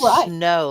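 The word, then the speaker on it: snaux: Now they even do it snow like a snowball. S N A U X.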